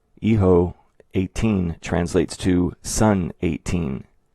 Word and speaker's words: hijo: of Spain someone's from, it's pronounced Hijo or Isho, meaning son.